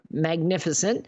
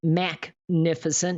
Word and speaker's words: Magnificent: She said that 39-year-old Tremont Blakemore, Magnificent, it's actually pronounced Macnificent.